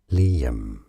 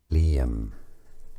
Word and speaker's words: Liam: Liam, 2 syllables. Li, a stress on this Li syllable. Liam.